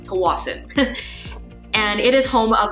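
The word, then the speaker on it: Tsawwassen: this area called toas so that's how it's pronounced toas and it is home of the fairy terminal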